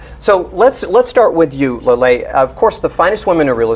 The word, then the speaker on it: Laleh: Beside Rebecca, we have Laleh, like pronounced Laleh. Perfect. I heard you talking in the lobby about like lollipop. Is that how we? It's a good way to kind of get you in the right direction.